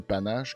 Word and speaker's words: Panache: produit qui va s'appeler panne h prononcé panache comme un panache de chevreuil si je comprends bien